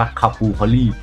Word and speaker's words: capercaillie: ครับ เอ่อ แล้ว ก็ ชื่อ ของ copper Carry เนี่ย มา จาก ภาษา เกริก อ่าน ว่า คาบูเคอรี่ ประมาณ นี้ นะ ขอบคุณ นี่ แหละ นะ